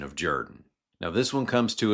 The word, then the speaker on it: Jordan: Ralph Jr.'s own study revealed that his family's pronunciation of Jordan goes back many generations, with a number of headstones even spelling the name more phonetically. And it appears the pronunciation dates all the way back to a Welsh pronunciation of the word, and the desire of